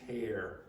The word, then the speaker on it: tear: In this context, it's tear. It's pronounced like T and then like air around you.